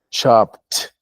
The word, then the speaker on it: chopped: Sliced, sliced, con la T, ambos con la T. Se pronuncia al final. Sliced, chopped, chopped, sliced. Aunque sea D al final, lo vamos a pronunciar con T. No todas van con T, pero estas dos sí.